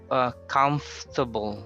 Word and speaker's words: comfortable: Okay, the other one is comfortable. So you delete the OR sound, even though you say the word comfort on its own, but as an adjective you say comfortable.